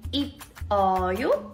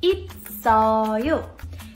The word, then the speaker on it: 있어요: Did you say it like 있어요? It's actually pronounced as 있어요. 받침 here, S is carrying over to the next syllable.